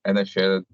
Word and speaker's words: Inisherin: I just wanted someone else to say it because pronouncing it was difficult for me. The Banshees of Inisherin. Is that right? Inisherin.